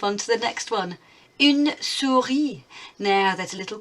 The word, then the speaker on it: une: Can you hear the difference between un and une? It's much longer sound, isn't it, for feminine? Une souris.